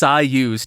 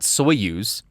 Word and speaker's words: Soyuz: told I was pronounced syus not soyuz syus in 1970s and that's how it goes in the Russian national anthem or the Soviet Union